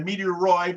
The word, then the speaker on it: meteoroid: there's no difference between a meteoroid which is one that rhymes with asteroids which means it's floating